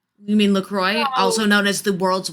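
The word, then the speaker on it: LaCroix: good it's it's like lcro you mean lacroy also known as the world's worst water there's so many wrong ways to pronounce it and that's the worst one the best part is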